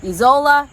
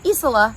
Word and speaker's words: Isla: So, I thought the book was called Isola. It is not. It's Isla.